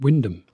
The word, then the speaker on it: Wymondham: Spelt like that, but pronounced Wyndham.